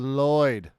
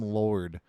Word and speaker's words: Lloyd: In the name of the LLOYD, because they keep calling him Lord. And he's like, no, my name's Lloyd.